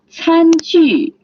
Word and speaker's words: 餐具: 副餐具 the first tone and the fourth tone, which means utensil.